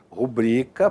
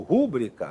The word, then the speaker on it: rubrica: Essas palavras são paroxítonas, tá vendo? A sílaba tônica ali em azulzinho, ó. Porém, são normalmente transformadas em proparoxítonas, o que significa o que configura um erro de prosódia, um erro de pronúncia. Como assim? Aqui, ó. Então, é muito comum você ouvir a pessoa falar, né? Filântropo ou record ou rúbrica líbido e púdico. Errado.